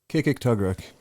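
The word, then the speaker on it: Kikiktaġruk: Kikik-Tugruk.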